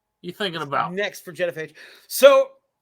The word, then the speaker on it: Genophage: Genophage. That's right. You got it? Yeah, what's next? You thinking about? Next for Genophage.